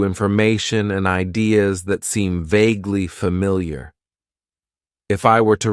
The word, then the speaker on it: vaguely: Then we have an adverb that I like to use, and that is vaguely. It has 2 syllables, and the stress is on that first syllable. Vaguely.